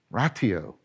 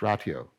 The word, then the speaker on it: ratio: You probably pronounce it ratio, right? And it's about the proper proportioning of things. Notice that we sometimes say, putting things into perspective. Oh, right. There's a ratio. Why are you pronouncing it weirdly, John? Because that's probably the Latin pronunciation, and it's in our word rationality and rationing.